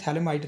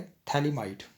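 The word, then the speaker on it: phthalimide: थैले might reaction गबल थले माइड reaction से हम प्राइमरी अमीन कैसे बनाएंगे पहले थली माइड यह स्ट्रक्चर थली माइड का थली माइट पीएच साइलेंट है इसको ट्रीट करेंगे हम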